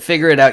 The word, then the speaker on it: FIGGERRIDOUT: it's really funny but figure it out yeah it's spelled funny f i g g e r r i d o u t that's what that's all